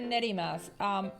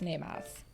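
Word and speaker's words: 寝ます: So RTD said nerimasu. It is actually, because it is a ru verb, it is nemasu.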